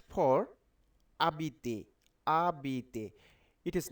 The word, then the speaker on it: habiter: So when you pronounce this letter, it will be silent. Okay. So H for habiter.